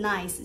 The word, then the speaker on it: Nice: 尼斯的英文就是它那个 spelling 就跟 nice 是一模一样，就是 N I C E，但它的 pronunciation 是 Nice。